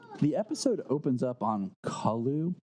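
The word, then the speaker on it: Colu: Yeah, I've always pronounced it Kolu. I don't know, maybe because my last name's Cole and it's Cole, so it's just an U instead of an E.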